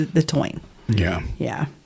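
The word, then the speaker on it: Táin: of of the Morgan the toin Bonia it's it's spelled t a i n the toin yeah yeah it's it's amazing and then there's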